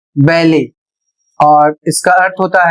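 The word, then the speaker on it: ballet: अगला शब्द है बी A double L ई टी जो फ्रेंच भाषा से आया हुआ है और इसे पढ़ा जाएगा बैले और इसका अर्थ होता है एक शास्त्रीय नृत्य शैली।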